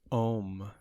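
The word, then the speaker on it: Homme: was the dior home how do you pronounce that h-o-m-m-e um like oh oh oh yeah it's pretty much ohm it discontinued that one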